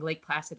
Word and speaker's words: Lake Placid: yeah like I said I said it wrong Lake Placid likes a weak acid um yeah I would